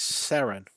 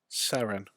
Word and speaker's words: seren: my children this so the Welsh word for star providing us a girl versus star is sarin sarin spelled like that yes yes and there